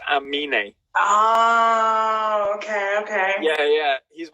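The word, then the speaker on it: Aminé: how you say it is it anime like no it's like but he's flipped the n and the m so it's amini okay okay yeah yeah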